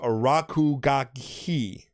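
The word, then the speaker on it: RKGK: introduced the world of RK GK oh pronounced Raku gagi all right no just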